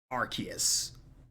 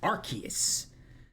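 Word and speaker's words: Arceus: a game called Legends Archus. They called it Archus in the game title. So people are going haywire for a Archus mis uh pronunciation, but we already got it three years ago.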